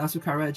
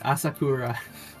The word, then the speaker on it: Asakura: is under dendro but asukara just isn't uh oh my bad I've been reading the name wrong this whole time it's asakura for the record The Shield